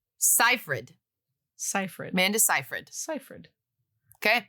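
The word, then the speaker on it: Seyfried: oh okay yeah uh Amanda cyphered the correct pronunciation is cyred cipher Manda cyh Cipher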